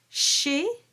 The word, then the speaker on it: chez: Chez, don't pronounce that final consonant.